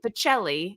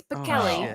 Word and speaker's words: Pacelli: So if you ever meet her, don't say Pacelli. It's Pacelli.